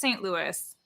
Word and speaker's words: St. Louis: It's pronounced St. Louis.